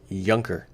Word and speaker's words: Juncker: dollars remember in some 1% Joe it's not pronounced junk jean-claude juncker it's Younker with the J becomes a why kinda like